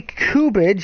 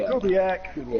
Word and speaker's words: Kubiak: Gary Kubich, if I'm pronouncing his last name correctly, I know Captain Ron would say that. Kubiak.